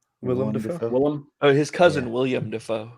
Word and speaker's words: Willem Dafoe: Isn't William Dafoe in that movie? Willem Dafoe.